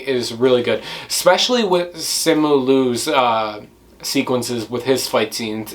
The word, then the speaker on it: Simu Liu: But for me, the chemistry between Awkwafina and Simon Liu, I don't know if you guys catch my vibe with that, but like for me, Simu Liu. That's how you say his name.